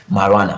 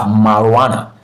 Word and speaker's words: marijuana: I and J here are silent in this word, marijuana. So we've broken it down into a component syllable already, and we have marijuana. So this is pronounced marijuana. Remember, the stress syllable is the first syllable in words like this that have silent sound or silent syllable. So the first syllable is the stress syllable. So that's where we usually have the stress syllable, in the first.